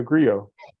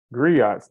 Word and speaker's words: griot: a conversation um about the Grio griots depending on how you choose to pronounce it um and so since